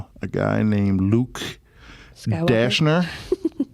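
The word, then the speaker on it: Dashjr: Dashner or Dash Jr. Depends on who you're talking to.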